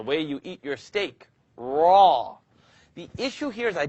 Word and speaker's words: ر: Raw. The issue here is I don't want you to O your mouth. I'd rather you not do this. Raw. Don't use your lips to pronounce raw.